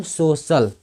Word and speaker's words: social: जैसे सोशल, SOCIAL, तो SO से हो गया सो और CIA से क्या हो गया स, अवेल से ल, तो इसको पढ़ेंगे हम सोशल।